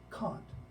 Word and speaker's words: Kant: the name on the board and it is pronounced Conte it's not canned God is German and when I say he's